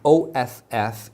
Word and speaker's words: off: The word with two F's, like the one you can see in my slide, is off. The OFF is pronounced off.